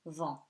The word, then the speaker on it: vent: UN becomes nasal before the consonant, and T at the end is a consonant that is silent, so vent. W is written like vent,